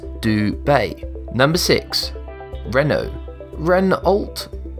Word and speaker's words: Dubai: In the English context, the AI in Dubet is pronounced like I, while in Arabic, it's more like a like in bay. Therefore, the right pronunciation for dubet is dub bay.